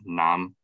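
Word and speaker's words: 南: archaic chinese and also preserved in some southern dialects like cantonese that is actually pronounced nam and then the right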